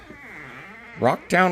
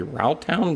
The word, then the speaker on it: Rauchtown: Rock Town isn't spelled R O C K, spelled R A U C H. So, it shouldn't be Route Town, but it's not. It's Rock Town.